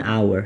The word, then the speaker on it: hour: on에 그죠 자 것도요 h 이만 발음은 이게가 아니라거든 그래서 모음으로 발음 나기 때문에 on hour 한 시간이란 뜻입니다 한시간